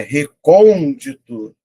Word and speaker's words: recôndito: É recôndito." Então, ela é uma proparoxítura. Toda proparoxítona é acentuada.